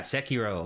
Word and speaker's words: Sekiro: Sekiro? Yeah, Sekiro, like that. Oh, Sekiro? Yeah. Okay. Yeah. Right, I butchered that one.